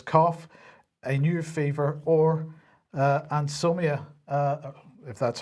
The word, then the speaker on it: anosmia: So from today, all individuals should self-isolate if they develop a new continuous cough, a new fever, or anosmia, if that's how you pronounce it, anosmia, sorry, I do apologize, right?